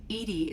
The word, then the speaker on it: EDI: are you named Edie Edie is the phonetic pronunciation of EDI acronym for enhanced Legends